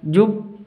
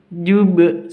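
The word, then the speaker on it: جُبّ: jubb itu qalqalah kubra cara membacanya dipantulkan kalau ada tasydid seperti ini cara bacanya jubb be. Kalau tidak ada tasydidnya berarti jube seperti itu.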